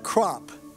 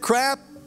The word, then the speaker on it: Kropp: beginning of the year the teacher would mispronounce my name I'm not making this up Fred crap um anybody here named